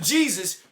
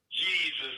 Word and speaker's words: Jesus: Americans say Jesus. They use a hard J. Yeah. The Latin term, which is Italian, Spanish, any part of that region, Latin, is Jesus. Exactly. That's how it's said.